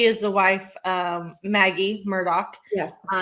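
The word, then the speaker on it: Murdaugh: Some say Murdoch. Yeah, it's pronounced Murdoch, but it's not spelled that way.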